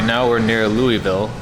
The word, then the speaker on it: Louisville: Okay, so right now we're near Louisville, correct? Louisville, yeah. Right outside of Littleville. Louisville. I just said Louisville. Yeah, it is Louisville.